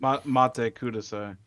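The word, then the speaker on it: Matte Kudasai: Please Wait, and um I forget how to pronounce the name of that song, so apologies. Mate Cudas.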